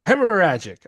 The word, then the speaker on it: hemorrhagic: So Gazu said you finally got the pronunciation correct by the way. Hemorrhagic. I got it. Got it. You kept putting a P in it, didn't you?